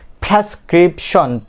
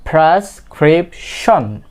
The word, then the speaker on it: prescription: কি বলে থাকি প্রেসক্রিপশন, বাট ইটস নট প্রেসক্রিপশন। এখানে কি একটা আর আছে, তো আর এর পরে যেহেতু একটা ভাওয়েল লেটার আছে, সো সেহেতু অলওয়েজ এটা কি হবে আর এর সাউন্ডটা উচ্চারণ আপনাকে কি করতে হবে, করতেই হবে। সো বন্ধুরা এটা কি হবে প্রেসক্রিপশন, প্রেসক্রিপশন, প্রেসক্রিপশন। ডাক্তার আপনাকে কি দিয়েছে prescription, not prescription. It will be prescription, prescription.